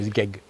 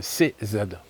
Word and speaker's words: CZ: C c'est Z. C'est pas Zeg. C'est pas un Zeg, c'est un CZ.